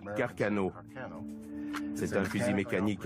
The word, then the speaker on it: Carcano: On prononce Carcano.